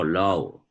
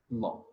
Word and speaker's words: law: Oh, low. Uh-huh. Oh, okay. Law. Because I heard something like LOGS, and I said, what is low, low, low, low. Law. Okay, But the pronunciation is law.